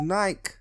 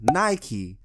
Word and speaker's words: Nike: see this right here that's called a bike not a bikey a bike anyway after she said